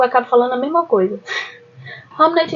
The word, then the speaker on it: Hamnet: ele escreveu a peça hamnet é a a a grafia é é diferente mas a pronúncia é bem parecida e como a minha adicção é de centavos eu acabo falando a mesma coisa hamnet hamnet um romance né